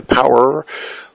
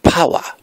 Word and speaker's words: power: You know, make sure that when you say power, don't pronounce it the American way, power, but more power to all our friends.